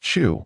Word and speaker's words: Chu: 40s named Chu Yingjie, the surname Chu, which has been transformed from the original since the Mid-Tang dynasty, is pronounced Chu with a rising tone.